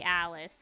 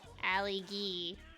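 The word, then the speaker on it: Ali G: It's not actually Alice. It's Allie G. No, it's Allie G. And it's actually spelled like G-E.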